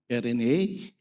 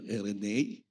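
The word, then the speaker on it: εἰρήνη: Peace, which is from the Greek word RNA. Pinakinggan ko patris ako sa Google kung paano i-pronounce ito. No? RNA.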